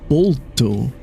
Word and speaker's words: Boruto: Did you know that Naruto's son, which now everybody pronounces as Boruto, would actually be pronounced as Bolto, which means bold.